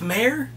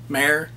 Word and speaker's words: Maher: This cat-hating neighbor is played by Joseph Maher. Maher. M-A-H-E-R. It's pronounced both ways, so I'm not sure how he did.